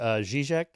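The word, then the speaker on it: Žižek: I've been at a couple conferences where Zizek, is that how you say his name? Yeah, was Zizek, yeah.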